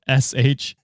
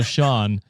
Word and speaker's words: Shant: name is spelled Shant with a silent T, LOL. So SHAWNT. So not only is it the wrong way to spell Sean, it's got a silent T at the end. How do you feel about that? You shan't hide your feelings, Sean. So it's pronounced Sean, Yeah. but spelled Shant.